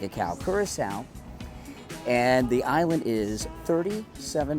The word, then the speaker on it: Curaçao: kurasa I learned from our tour guide is pronounced kurasa like s like a cow kurasa and the island is 37 Mi long so